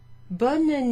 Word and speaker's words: bonne: Bonne nuit looks different and it sounds different. Bon, bonne. Bon, bonne. Pronounce the N here, if you like, and even the E a little bit.